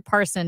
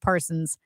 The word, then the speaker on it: Parson: one very very end it's also Governor Parson not Parsons I make a lot